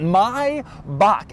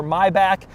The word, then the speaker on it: Maybach: which is right here this is the correct way to say it my bach anybody who says maybach or maybach or my back it's all wrong my bach is correct